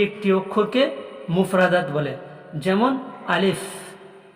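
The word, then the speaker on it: ألف: করতে হবে এই যে আলিফ আলিফ উচ্চারণ কোথা থেকে হয় সেই জায়গাটা আমাকে জানতে হবে দেখুন আলিফ মুখের খালি অংশ থেকে উচ্চারিত হয় আলিফ মুখের খালি অংশ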